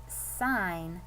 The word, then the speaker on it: sign: next is the word sign again we already know the g is silent one syllable touch t